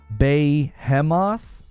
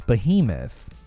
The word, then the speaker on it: Behemoth: it's going to be Beemo no it's Behemoth I don't think I've ever seen anybody pronounce it Beemo Sony could sell Bungie